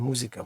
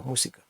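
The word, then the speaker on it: música: Зверніть увагу, немає звука з, не музика, мусика. І наголос падає на третій склад з кінця.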